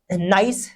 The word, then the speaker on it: gneiss: यहाँ पर GNEISS दे रखा है, इसमें जी साइलेंट है, इसको नाइस बोलते हैं। क्या बोलते हैं, नाइस बोलते हैं।